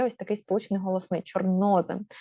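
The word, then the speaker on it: чорнозем: ось такий сполучний голосний чорнозим До речі наголос сюди чорнозим е зоре Зорепад листопад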